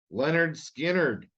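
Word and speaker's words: Lynyrd Skynyrd: it deserves to be on the list somewhere Leonard Skynyrd pronounced Leonard skinnered I like early Leonard Skinner but I'm I'm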